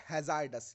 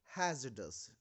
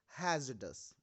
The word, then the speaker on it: hazardous: This is नॉट हैजार्डस, नो, वी डू not pronounce it like हैजार्डस। इस शब्द को pronounce किया जाता है हैजडस। इस शब्द में आर साइलेंट होता है, वी प्रोनाउंस इट हैजडस।